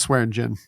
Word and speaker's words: Swearingen: know when Swearingen is, do you pronounce the G? Is it Swearingen or Swearingen? It's Swearingen.